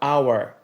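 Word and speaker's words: hour: invés do artigo a é o mesmo caso da palavra our em inglês our tendo em vista que nesse caso o som do H é mudo e ainda falando sobre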